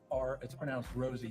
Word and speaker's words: Rose: Yeah, it's pronounced Rosie, not Rozzy.